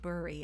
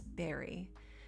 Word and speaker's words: bury: that I learned that it's not bury it's Berry and um what is